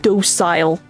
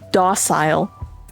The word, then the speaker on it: docile: I have never heard anyone in my life pronounce it docile. It's docile. Yay, mispronunciations! Woo! That or maybe I've always heard it wrong.